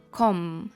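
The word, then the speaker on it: comb: ще є слово ком це гребінець для волосся ком а тепер поговоримо про слова в яких ця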